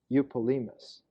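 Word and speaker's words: Eupolemus: named Jim opus and you Polhemus is the Greek pronunciation I'm sorry of my English pronunciation you Polhemus concerning the Jews of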